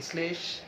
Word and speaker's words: শ্লেষ: যদি তালব্য শ হতো, যেমন শ্লেষ, দেখো স্লে, স্লে তালব্য শ ল, কিন্তু উচ্চারণ করছে দন্ত স ল।